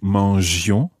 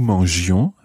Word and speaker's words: mangions: Nous mangions, vous mangiez. Now, I works the same way in French as E. It keeps the G soft.